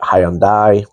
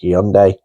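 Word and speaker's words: Hyundai: like K and um hyund or hund as I believe that's pronounced um there's a lot of people that pronounce it Hyandai but it's actually hunde um and I'm probably even getting that wrong um so she's looked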